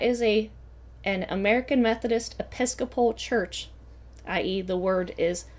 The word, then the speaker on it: Episcopal: down to who ha Woman's University started from mispronouncing that first word that is a an American Methodist Episcopal Church ie the word is Episcopal Methodist Church